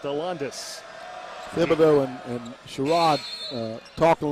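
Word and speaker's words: Alandise: another one coming up his first name is spelled a-l-a-n-d-i-s-e pronounced hollandis and sherrod uh talking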